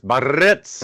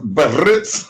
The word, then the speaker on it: Biarritz: You got to roll your R's. Biarritz. Biarritz. Yeah, well, it's got double R's in the Biarritz.